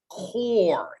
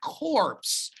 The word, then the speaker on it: corps: call the civilian conservation core not corpse it's pronounced core c-o-r-p-s so another thing you